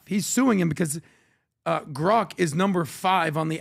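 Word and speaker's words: Grok: I pronounce it Grock, not Groank.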